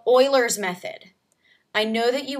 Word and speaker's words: Euler: Okay, today we are going to learn a cool little topic called Oilers's method. I know that you want to pronounce this uler but that is wrong.